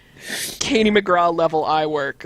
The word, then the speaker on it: McGrath: her name Katie McGrath it's pronounced McGraw are you kidding me